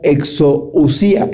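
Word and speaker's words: ἐξουσία: autoridad en el griego se la pronuncia exousía.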